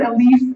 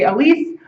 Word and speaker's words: ALICE: which I'll pronounce it Alise it's it looks like Alice but if you slur Alice it sounds like Atlas too much so I'll use the French French pronunciation and say Alise Alise looks at um